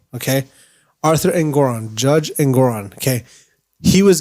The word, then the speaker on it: Engoron: Because you're like, okay, Donald Trump came in there with Judge, I want to make sure I pronounce his name right. Engoron, okay? Arthur Engoron, Judge Engoron, okay?